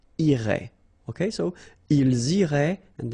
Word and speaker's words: irait: Irait, final T not pronounced.